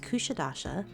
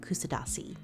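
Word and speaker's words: Kuşadası: We learned on this trip that the name of our port stop is pronounced Kusadasi, not Kusadasi.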